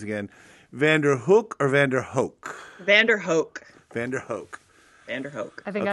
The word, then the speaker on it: VanDerHoek: VanDerHoek. VanDerHoek. VanDerHoek. I think okay. I've been mispronouncing it for 10 years.